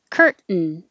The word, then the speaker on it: curtain: comes before an in so when you put your tongue up for the t sound it's the same position as the n so instead of releasing it kurt 10 you just hold it there kurt curtain and the same certain certain and